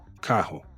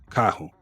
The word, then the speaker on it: carro: You'll hear something closer to carro, carro. So that R at the beginning of a word is pronounced like an H, and the RR in